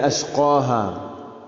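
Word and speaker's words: أشقاها: അഷ്ഖാഹ, അതിലെ ഖാഫിൻ്റെ ഉച്ചാരണം ശ്രദ്ധിക്കുക.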